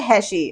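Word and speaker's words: hatchet: वो है हमारा बरी bury the hashe, bury the hashe, bury the hashe, HATCHAT, इसकी प्रोनाउंसिएशन होती है हैशे और इसका मतलब होता है कुल्हाड़ी, कुल्हाड़ी।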